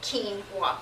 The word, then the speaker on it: quinoa: two grains called millet and quinoa quinoa is pronounced this is why put this at keene want can't eat anymore and this is from the